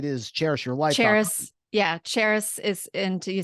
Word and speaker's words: Charis: cherish your life yeah Charis is and do you say it and spell it for for the listeners out there I Know It's Tricky it's pronounced and spelled just like the city Paris but with a cherish